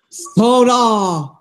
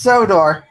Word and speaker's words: Sodor: Oh, Soda. Sorry. Yay! it's pronounced Sodor. Soda. To Soda. Sodor.